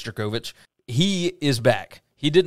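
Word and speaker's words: Jurkovec: won this game 48-27 phil jerkovich or yurkovich or however you want to say his name i believe it's jerkovich he is back he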